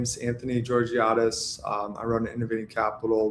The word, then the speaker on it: Georgiades: My name is Anthony Georgiatis.